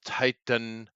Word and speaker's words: Titanomachy: and just so you know, it's Titanomachy. Titanomachy Yeah, is how you that pronounce it it's correctly.